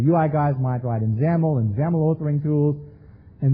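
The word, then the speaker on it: XAML: XML declarative language called ZAML. XML. I guess this is the same X that's in X lang, but instead pronounced as a Z over here and an X over there.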